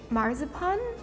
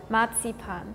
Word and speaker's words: Marzipan: Do you want to try okay to pronounce it as German as possible? Would it be marzupan? Almost. The the last word was good. We say matsipan.